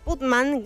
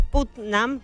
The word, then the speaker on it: Putnam: brujas bueno los Batman putman en real es putnam que se pronuncia así sí porque pman putman